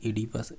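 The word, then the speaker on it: Oedipus: अब इंग्लिश देखेंगे तो ये लिख रहा है लेगो ओडिपस और बोल रहा है इसे एडिपस, ऐसा होता है इंग्लिश में, बहुत सारे शब्द हैं आगे के वर्ण होते हुए प्रोनाउंसिएशन नहीं किया जाता, डायरेक्टली उससे साइलेंट कर देते हैं, जैसे एडिपस बोल रहा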